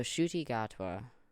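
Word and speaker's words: Ncuti Gatwa: pronounce it yeah shoy okay so I've been pronouncing it terribly wrong so shoy gotwa was uh you know he was in Barbie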